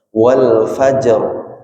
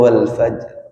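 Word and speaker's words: والفجر: Wa bayyinan harus jelas qalqalahnya misalkan wal fajr. Karena saya mendengar sebagian ustadz atau imam tuh bacanya wal fajr, memelankan qalqalah ketika atau contoh lain anzalnahu fi lailatul qadar.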